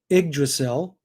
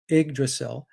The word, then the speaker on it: Yggdrasil: uh it's pronounced the igdacel but it's spelt ygg d-r-a-s-i but pronounced ig the y is an i igdrasil is that was the